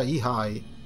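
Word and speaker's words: Iai: Si pronuncia Ihai.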